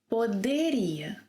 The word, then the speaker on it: poderia: ‘Poderia’ – I can’t make it ‘djee’ because of its position because of the position of the 'DE' sequence in this word. It must be 'de', with a hard 'd' sound. Then the waitress replied.